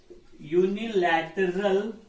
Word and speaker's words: unilateral: yo they made a unilateral declaration of independence okay what unilateral unilateral begins with u but the sound is but the sound is consonant suppose the meter is